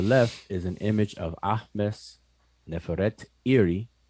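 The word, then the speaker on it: Ahmose-Nefertari: To the left is an image of Ahmes Neferet Iri, which is her name, but we pronounce it conventionally as Ahmos Nefertari.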